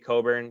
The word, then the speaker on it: Cockburn: like aoda sumu and kofi coburn even though it's spelled cockburn but uh both great